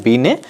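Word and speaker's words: Binet: Alfred पीने से हां हिंदी में इनका हम उच्चारण अल्फ्रेड बी ने कहते हैं इंग्लिश में इनको अलिफ बने लिखा जाता है यह एक फ्रेंड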